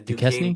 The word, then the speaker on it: Duquesne: The Duquesne Dukes. Duquesne Dukes. Duquesne Dukes. That's their name. Yeah. So the N is just silent. We just dropping that.